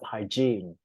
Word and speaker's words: hygiene: Another problem which is linking sounds, okay, which is not uncommon, is that some neighbors don't maintain enough hygiene. The G เนี่ยออกเสียงยากนิดนึง hygiene or cleanliness, right?